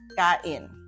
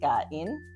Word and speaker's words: kain: Let us break or syllabicate kain. Okay? So, ka and then in. Okay? So, you now have two syllables, or you broke the verb root kain into two syllables, ka and in.